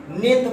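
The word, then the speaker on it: ninth: अभी आप लोग नाइन्थ पढ़े होंगे, नाइन्थ की स्पेलिंग होता है NINE होता है ना, NI, इसमें अगर ऐसा TH जोड़ देंगे तो गलत हो जाएगा। बहुत इंपॉर्टेंट मीनिंग है नाइन्थ की, निन्थ पढ़ा जाता है।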